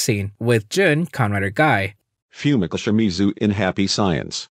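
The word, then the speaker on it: Gai: out because ha ha his name is gay even though it's probably pronounced guy but whatever ryan rookie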